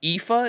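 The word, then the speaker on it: Aoife: she knows the fighting her sister IFA is how you pronounce that what God damn Celtic pronunciation dude Shadow from her past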